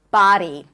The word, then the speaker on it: body: Now, it's okay to say body with a strong D, but if you're again more experienced and more advanced in your practice, you can also think of the D and make it like really light, like a light tap. Body. Some of you may also want to think about it as a flap R sound.